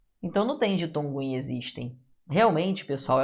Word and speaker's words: existem: Esse X tem som de Z, né?